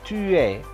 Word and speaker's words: tu es: Tu es. Es begini, ini dibacanya e.